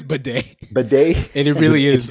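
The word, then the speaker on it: Badie: Tyler Batty's name is pronounced Bidet, similar to Bidet. This is a recent change, and he previously went by Beatty.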